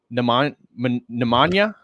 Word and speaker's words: Nemanja: Well done. We got over the J. Yeah, I know. I keep pronouncing when we were talking backstage. I was showing him a little bit of what we were going to discuss today, and I always pronounce the J as an English speaker, and so I'll be